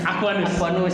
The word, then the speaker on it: Aquanus: Ya, kalau bacanya satu kesatuan ya. Aquanus ya.